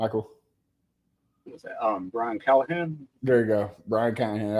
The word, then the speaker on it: Callahan: murder his last name so why don't you pronounce it for me Michael was that um Brian Callahan there you go Brian Kahan I don't want